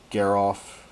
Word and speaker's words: Geralf: I think we should keep him off of that so that he can't trade with our Geralf.